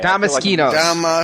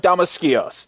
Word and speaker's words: Damaskinos: I feel like there might be another syllable in there. So do I. Damaskinos.